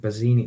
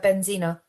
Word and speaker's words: Benzina: some really bad I'm going to get the name wrong. Bazine. Was it Bazini? No, no, the the Moroccan player who was the first player at the World Cup to be wearing a hijab. Oh, Benzina.